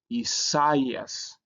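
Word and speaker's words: Ἠσαΐας: So you don't pronounce this as a diphthong when you see this sign diaresis. So it will be Isaias.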